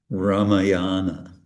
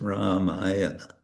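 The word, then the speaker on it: Rāmāyaṇa: the short and uh sometimes it's good to even exaggerate the long ah so for example raayana raayana it's not It's many devotees pronounce Ramayana. It's not Ramayana. It's Ramayana.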